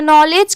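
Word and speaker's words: knowledge: रहे होंगे कि इसे क नॉलेज क्यों नहीं पढ़ते क्योंकि यहां पर तो के दिया हुआ है बट नहीं यहां पर पढ़ते टाइम के साइलेंट होता है इसे सिर्फ क्या पढ़ा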